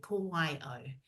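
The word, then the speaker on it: ko wai au: It's pronounced this way, ko wai o.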